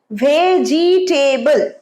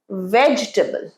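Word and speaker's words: vegetable: রেস্টুরেন্টের মত হলেও রেস্টুরেন্ট আরেকবার রেস্টুরেন্ট ওয়ান্ডারফুল লাস্ট ভেজিটেবল ভুল আমি ভেজিটেবিল পছন্দ করি না আমাদের ভেজিট খায়া উচিত শাক সবজি এটার মানে শাক সবজি কিন্তু প্রানসিয়েশনটা উচ্চারণটা কি ভেজিটেবল এইটার উচ্চারণ হবে না এইটা উচ্চারণ হবে না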